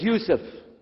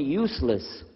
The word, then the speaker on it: Yusuf: My name is Yousef. Can you say Yousef? You said Yousef. You're very good. I wish you teach my wife. She keeps mispronouncing it. She calls me useless.